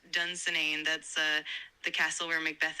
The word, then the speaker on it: Dunsinane: Yes, you've got it right. It's pronounced Dunsinane.